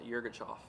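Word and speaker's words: Yirgacheffe: Okay, so it's Ethiopian Yirgachov. Yirgachov? Yeah, Yirgachov.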